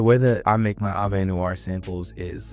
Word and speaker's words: Avenoir: My secret to making good Avenir or A Noir. I've been corrected. I was saying Avenir this whole time cuz that's the way it's spelled, but apparently it's wrong. It's a noir.